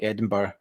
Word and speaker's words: Edinburgh: Edinburgh's pronounced correctly in there, like Edinburgh.